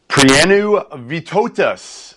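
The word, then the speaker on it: Prienų Vytautas: Prienu Vitotas. That is job. the name, I'm told. That's the correct pronunciation.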